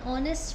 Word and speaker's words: honest: An MA, an MBA, an honest man. H is silent.